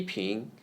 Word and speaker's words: 平: P 平 P is read as the first syllable of peanut. P. 平 is the word pin in the second tone.